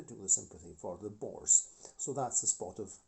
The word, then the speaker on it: Boer: O3 Boer locomotives anyway the name Boer which I have pronounced in French the French accent it's actually the bore from the bore War so because when these